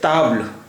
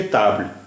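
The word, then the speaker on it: table: फिर देखिए ताब्ल, ताब्ल, देखिए फ्रेंच में टी का प्रोनाउंसिएशन टा कभी नहीं होता है, हमेशा ता ही होता है, इसलिए ताब्ल।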